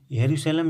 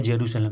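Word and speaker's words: Jerusalem: यह पूरी तरीके से डिजिटल बैंक होगा और इजराइल की वर्तमान में राजधानी है यरूशलेम या जेरूशलेम, दोनों उच्चारण किए जाते हैं, जो भी आ जाए उसको देख लीजिएगा।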